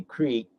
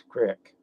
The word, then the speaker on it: creek: that Badger Creek Ranch or should say Creek with the way it's said with most people and like I said it's the right way to say it but nobody said that around there it was always Crick and around here you